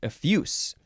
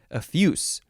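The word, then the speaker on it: effuse: you would pronounce it a fuse not with a z sound with an S sound a fuse adjective from Circa 15 30.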